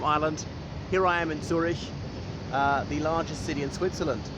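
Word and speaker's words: Züri: of villages just outside Zurich. So Zuri, as it is in the Swiss German.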